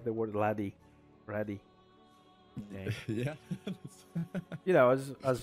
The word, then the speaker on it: Radee: Everyone, there's two pronunciations. They aren't wrong. Both of them are not wrong. Radee is the way it should be pronounced because of the way it's spelled out. But people also call me Radee. So that's Radee. Radee or Radee are totally fine. It goes both ways.